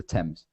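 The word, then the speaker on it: Thames: say TS like t e Ms TS the temps for some reason yeah so I don't know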